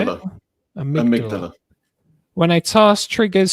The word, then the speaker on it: amygdala: Amygdala. Is that how you say it? Amygdala.